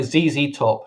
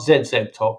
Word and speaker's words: ZZ Top: how you pronounce it if you're gonna pronounce it like a zz top not zeb top or z top is zz top yeah the the drummer